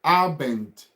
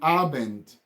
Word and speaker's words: Abend: you should also understand, speaking German language, it is, all the letters have to be pronounced. You don't pronounce it as English, whereby some letters are being silent. In German language, you have to pronounce to details. All the letters, all the alphabet must sound out.